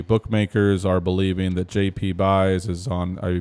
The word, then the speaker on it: Buys: favorite right the bookmakers are believing that JP buys is on a Bayes is how you pronounce it so JP bass is on his